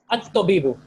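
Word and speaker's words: الطَّبِيبُ: At-tabibu. Okay, so at-tabibu, it becomes one single vowel.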